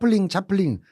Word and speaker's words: 채플린: 아니 각자 찰리 채플린 영화 언제 처음 접하셨어요? 저는 어른들한테 얘기로만 듣다가 뭐 차플린 옛날 어른들은 채플린 안 그러시고 채플린이라고 안 그러시고 일본식 발음으로 차플린 이렇게 얘기하셨는데 우리나라에서 공식적으로 상영이 다 금지돼 있었잖아요.